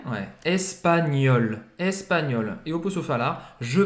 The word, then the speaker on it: espagnol: E c'est GN aqui que tem o som do NH em português, espanhol. Só que ele é um pouco mais pronunciado, né? Ouais, espagnol, espagnol.